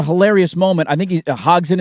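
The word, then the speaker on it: Hodgson: I think he Hogen is how you say his last name.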